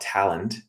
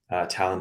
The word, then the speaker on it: Talend: One of them was a French company called Talend, Talend with a D. Some people pronounce it Talend.